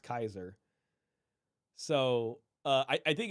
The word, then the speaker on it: Caesar: derivative of that and I think Caesar's a wrong pronunciation it's actually SP pronounced Kaiser so uh I I